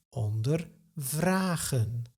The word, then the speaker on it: ondervragen: Here, the verb is ondervragen. Ondervragen. The stress is not on the prefix, so the verb does not split up.